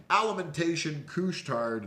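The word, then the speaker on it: Alimentation Couche-Tard: on the clothes on Friday down from earnings alimentation coustarde that's how you say it uh de Laval Quebec they whole have over 15,000 stores around the world Canada u.s.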